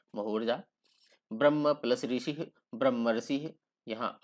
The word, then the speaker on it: ब्रह्मर्षि: तो ब्रह्मर्षि अंत में देखिए, इसको आप गौर से सुनेंगे उच्चारण करेंगे तो अंत इसमें बीच में अर आता है, ब्रह्मर्षि ब्रह्मर्षि अर आता है इसमें।